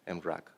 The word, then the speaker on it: mrack: But in reality, mrack in Czech means cloud. So that's why sometimes I pronounce it mrack, but you can pronounce it mrack as well. Yeah, but it's not mrack, it's mrack. Yeah. So that way you have to pronounce it. Yeah. It's a Czech word in origin.